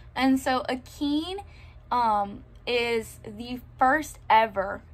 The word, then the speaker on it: Akin: following her son akin in my head before he like pronounced it out loud out loud i read it as aiken his name is akeem and so akeem um is the first